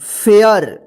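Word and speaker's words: fare: इसको देखिए यहां पे रूल्स इसका कि जब किसी वर्ड में ए के बाद लास्ट में आर ई रहता है तो इस ए का ए उच्चारण होता है जैसे यहां पर देखिए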